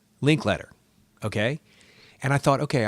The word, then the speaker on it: Linklater: You say Linklater, okay? When they announced the Oscar nominations, they said Linklater. I've always said Linklater, okay?